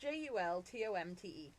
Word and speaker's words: Jultomte: It's Yultomte, or it's pronounced Jultomte.